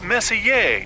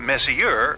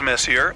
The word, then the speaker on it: Messier: well young lady the m stands for Messier pronounce Messier not Messier as in is your room messier than mine Charles Messier I mean Messier to be precise was a